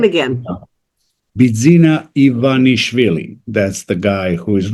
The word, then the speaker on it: Bidzina Ivanishvili: Bidzina Ivanishvili.